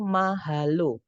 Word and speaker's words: mahalo: Itu ada 3 suku kata, teman-teman, atau 3 syllables. Suku kata pertama ma, suku kata kedua ha, dan suku kata ketiga adalah lo. Yang mana setiap suku kata berakhiran dengan huruf vokal, yaitu a, o.